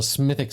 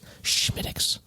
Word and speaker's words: Smithwick's: Get a little Smithix up in there. Smithix. Well, Schmittix. It's spelled like Smithwick's, but it's not pronounced that way.